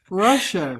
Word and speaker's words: Rusha: My name is actually pronounced Russia, but it's not spelled properly. So Russia. Russia. But I'm used to being helps. called Rusha too, so don't worry.